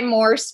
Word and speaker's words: Morse: So, but I go by Morse because Morse code, and it's pretty easy to remember. It sounds like horse.